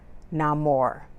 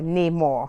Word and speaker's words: Namor: of Talokan and its ruler, Namor, or Namor, however you choose to pronounce his name, played by the actor